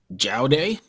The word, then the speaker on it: Jaodae: first and I'll tell you I'm gonna say jail day bang on did it really yeah I was